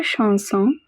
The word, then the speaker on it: chanson: Mademoiselle, votre chanson est comme l'épée de Charlemagne. Mademoiselle means miss. Votre, we have seen this before, it is a possessive adjective meaning your. Chanson, ch is pronounced as sh.